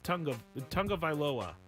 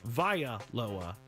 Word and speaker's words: Tagovailoa: Also, Tua Tagovailoa is, to this person, Tua Tagovailoa, which is also not their name. Not their name. Tagovailoa is not his name. It's Tagovailoa. Vailoa is not their name.